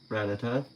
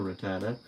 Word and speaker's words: Rattata: And then, in this round, and then near the end, we have a Alolan Rattata, or Rattata, however you want to pronounce it, as I will keep saying that until we get done saying Rattata or Rattata.